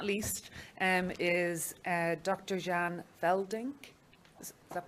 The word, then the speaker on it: Jan Veldnik: Jan Veldnik. Is that pronounced properly?